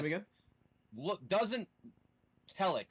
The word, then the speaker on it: Khellek: doesn't Cleric. It's spelled Khellek. It's almost a palindrome if it wasn't for that dirty H in the middle.